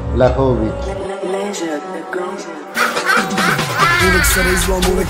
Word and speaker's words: Vlahovic: Dušan Vlahovic.